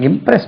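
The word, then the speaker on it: impress: இம்ப்ரஸ் இம்ப்ரஸ்ட் இம்ப்ரஸ்ட் இம்ப்ரஸிங் இங்க ஜெட் வராது எது இம்போஸ் இங்க இம்ப்ரஸ் கிடையாது இம்ப்ரஸ் எஸ் சவுண்ட் தான் வரும் தென் பிரார்த்தனை செய்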